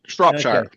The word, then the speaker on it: Shropshire: Close, not quite. Shropshire. Okay. Shropshire. Shropshire. Well, it throws me off as where the R is. It should be where the O is in my brain.